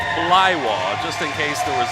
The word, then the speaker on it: Blaiwas: junior lightweight limit 120 7.1 pounds again that's pronounced fly wah just in case there was any confusion on